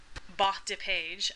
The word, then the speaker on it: bas de page: It's a bas de page, to say it in the, you know, the actual French pronunciation.